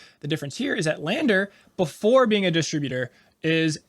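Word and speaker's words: LANDR: yeah this one is Lander and Lander is spelled without the e at the end which has always pissed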